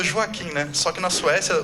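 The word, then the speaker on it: Joakim: E tem aqui a gente fala Joaquim, né? Só que na Suécia, o J, eles pronunciam como I. A gente fala Joaquim.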